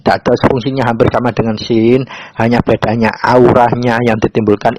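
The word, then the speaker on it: شين: Cara bacanya S Y I N sin.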